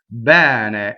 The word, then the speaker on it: bene: Next, bene is the full word. Bene. Okay, so this E is an open E. It rhymes with head in English, right?